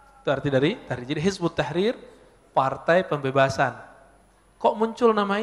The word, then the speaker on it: Hizbut Tahrir: waktu ini dengan nama Hizbut Tahrir dalam bahasa Arab Kalau ditulis versi transpirasinya head at-tahrir ya tapi kebaca Hizbut Tahrir cara bacanya begitu nulisnya kalau Dik di